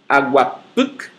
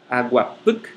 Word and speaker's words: aguapuc: Aguapuc. Aguapuc. A sílaba tônica no puc.